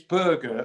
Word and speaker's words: Berge: sheffield united record signing is it burger or is it i am told it's burger that's the way he in his homeland would have it pronounced and there was a